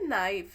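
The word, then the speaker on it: knife: दोनों में गलत है यहां पे के साइलेंट होता है इसको हम ओनली पढ़ते हैं नाइफ एन से शुरू होगा नाइफ ठीक है एन आई एफ के का उच्चारण हम नहीं करते हैं तो यहां पे नाइफ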